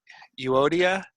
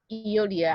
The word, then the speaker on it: Euodia: I pronounce them Euodia and Syntyche.